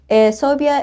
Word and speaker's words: Sobia: elephant in the room soia is pronounced like how you would say phobia but I promise you